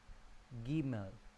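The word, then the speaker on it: גימל: La tercera letra, la letra Gimel, se pronuncia suave como en gala o guerra. Gimel.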